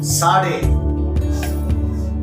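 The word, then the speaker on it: צדי: இப்போது எபிரேய எழுத்துக்களில் 18வது எழுத்தாகிய சாடே. அல்லேலூயா. சாடே. சாடே எப்படி எழுதலாம்? அதனுடைய ஒரு சில வார்த்தைகளை நாம் படிக்கலாம். அல்லேலூயா. சாடே. TS சேர்ந்து வர வேண்டிய ஒரு ப்ரொனன்சியேஷன், ஒரு உச்சரிப்பு. கருத்து தோற்றம் TS சேர்ந்து வரணும்.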